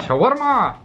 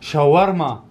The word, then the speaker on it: shawarma: Shawarma! I ordered a lentil soup, hummus. Wait, wait, wait. Can I just say how they say it in Arabic? They say chicken shawarma. Shawarma.